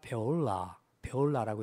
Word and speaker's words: 뷸라: 사실 이제 이 히브리어 원어 발음으로 하게 되면 헵시바가 아니고 헤프치바라고 하고 뷸라가 아니라 베올라라고 이렇게 발음합니다.